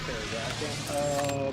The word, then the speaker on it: pterodactyl: The P is silent. Oh, no. That one. Pterodactyl.